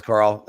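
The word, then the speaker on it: Karel: injury Carl Vamela or Carell I think he pronounces it Carl you it is it is Carl.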